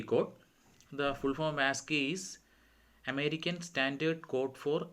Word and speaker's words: ASCII: The full form of ASCII is American Standard Code for Information Interchange. It is ASCII, and we pronounce as ASCII.